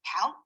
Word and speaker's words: CALC: The conference is called CALC, rhymes with talc, and I understand from your explanation that you're all librarians involved in social justice work.